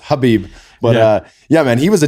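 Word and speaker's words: Khabib: Speaking of Joey Diaz, he calls him Kalabib, which is great. it's pronounced Habib.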